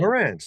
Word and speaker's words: Marantz: pronounced Marantz? Marantz? How do you Yeah, say it? Marantz, like the Right.